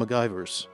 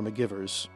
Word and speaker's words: McGivers: Second was Lieutenant Marla Macgyver, or McGivers if you're Kirk or Khan pronouncing it, the ship historian aboard